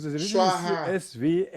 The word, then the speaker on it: Swaha: The Tibetan way is always mispronounced mostly.